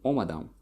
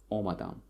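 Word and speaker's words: омадам: So omadam, so the stress falls on first syllable, omadam.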